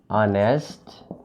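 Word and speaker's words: honest: অনেস্ট ম্যান, এইচ উচ্চারণ হচ্ছে না, না হয়ে অনেস্ট ও উচ্চারণ হচ্ছে, তাহলে এইচটা উচ্চারণ হচ্ছে না বরং ভাওয়েলটা উচ্চারণ হচ্ছে, কাজেই এটার আগেও এন হবে।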